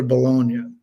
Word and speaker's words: Bologna: So I have, I think, 4 days off after Bologna. Is that how you say it? Bologna, right?